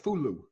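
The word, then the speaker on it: Foolow: From your wonderful home in how do you pronounce it? Fulo.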